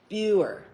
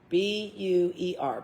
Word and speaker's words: Buer: President Buer, B-U-E-R, Buer, knowledge in philosophical subjects.